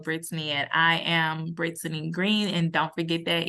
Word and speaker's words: Greene: Don't forget that E because it is green E. It's green, but it's spelled like greenie.